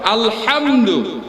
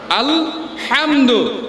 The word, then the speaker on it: আলহামদু: গলার মাঝখান থেকে, গলার মাঝখান থেকে, হালকুমের মধ্যবর্তী স্থান থেকে। এই জন্য বলতে হয় আলহামদু, আলহামদু। একটু চেষ্টা করি না, আলহামদু।